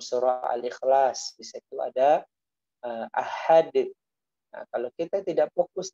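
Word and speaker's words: أَحَدٌ: Nah, kita pantulkan karena dia memiliki sifat memantul.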